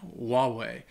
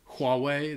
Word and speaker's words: Huawei: I think a lot of people would say Huawei, they would pronounce the H, even though I think it might just be Huawei.